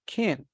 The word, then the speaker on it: can: pay attention to the pronunciation of kin because it isn't stressed not stressed is like not